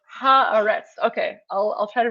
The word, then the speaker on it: Haaretz: It's pronounced harets.